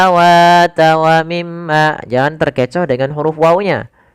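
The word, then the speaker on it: وَمِمَّا: Kebanyakan kita adalah tidak menahannya. Misalkan wamimma harusnya tahan dulu wim ma gunahnya.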